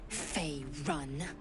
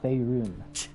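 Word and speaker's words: Faerûn: Fey run. No, it's Faerun.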